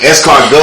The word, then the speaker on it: escargot: Yeah, the T is silent. Escargot.